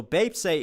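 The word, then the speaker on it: 뱁새: info for babe say how do you say it bape see bape say as the lyrics will be off so bape say is crow tit but it's also okay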